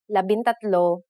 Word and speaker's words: labintatlo: For the letters D, L, R, S, and T, the G from NG is dropped to make it easier to pronounce. Labindalawa, labintatlo, labinlima, and labinsyam.